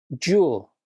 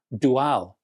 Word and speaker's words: Dual: of my German friends, yes, I realize that the company's name probably should be spelled or rather pronounced dual. But I'm an ignorant Englishman, so you're going to have to make do with the name I was brought up on in this country.